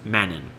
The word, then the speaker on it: Mannin: Therefore, Medon in, pronounced Mannin, would signify the middle island.